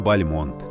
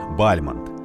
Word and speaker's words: Бальмонт: родился русский поэт Константин Бальмонт любопытно что его предки произносили свою фамилию с ударением на первый слог Бальмонт но сам поэт предпочитал вариант Бальмонт возможно чтобы он звучал на французский манер его отец Дмитрий Константинович